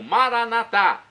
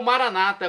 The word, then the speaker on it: Maranatá: E agora, do aramaico dialeto de Jesus, eu clamo Maranatá, como dizemos nós católicos, ou Maranata, como dizem nossos irmãos separados, os evangélicos ou protestantes.